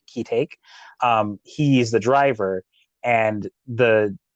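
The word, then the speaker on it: Ki-taek: Like there was a bit, I think, when the father's name is Kitake, I believe it's pronounced Kitake.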